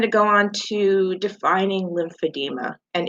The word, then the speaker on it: lymphedema: go on to defining lymphedema and it is spelled lim fa di ma lymphedema is a is